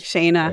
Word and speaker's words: Shayna: So I always like to give a little bit of history that Ben and his wife, Shayna, am I saying it right? Yes, Shayna, that is correct.